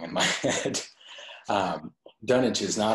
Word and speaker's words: Dunwich: Dunwich is not how I would have said that word.